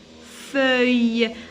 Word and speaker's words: feuille: Feuille. Alors, deux L, je la prononce comme ya.